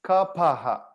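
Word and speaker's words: कफ: actually in actual sanswood there's no f sound it's ka paha okay i know what you might have heard kapha huh okay and i've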